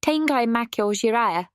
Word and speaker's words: Tengai Makyou Ziria: Tangai Mako Jira yes that's how you say it not Zera is the world's first CDROM RPG released by Hudsonoft and developed by Red Company.